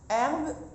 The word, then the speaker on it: herbe: Dans l'herbe, alors H, herbe, il y a le H muet, je l'ai fait en couleur.